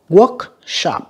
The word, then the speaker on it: workshop: Workshop âm 1 nha. Village âm 1 nha các bạn.